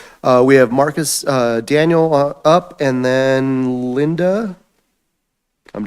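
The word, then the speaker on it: Daneil: Um my name is Marcus Daniel. Last name is spelled D A N E I L.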